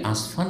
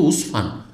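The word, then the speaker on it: عسفان: সেও আসফান বলে উঠেছে আমি বলে আসফান কেন বলছে এটা তো উসফান তো বলছে আমরা তো জানি যে আসফান কারণ সব ইন্ডিয়া বাংলাদেশ সবাই বলে আসফান কারণ ইহুদি লিখা আছে আসমান আমব্রেলার মত বুঝতে পেরেছেন কিন্তু আসলে তাদের উচ্চারণ ভুল এটা হচ্ছে মূলত জায়গাটির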